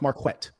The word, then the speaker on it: Marquett: My name is pronounced Marquet.